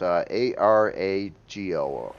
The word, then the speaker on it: Arago: I wanted to say Argo, but it's Arago.